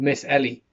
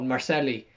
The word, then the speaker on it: Miss Ellie: Thankfully, young Billy was there to inform Kieran that his donkey was called Miss Ellie, which Joe will go on to repeatedly mispronounce and call Marcelli for the duration of the programme.